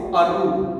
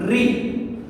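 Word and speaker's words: ऋ: And now, how to pronounce this? Re means you do not have to pronounce this Aru. In Hindi it is restricted. You do not have to call this Aru. It is Re.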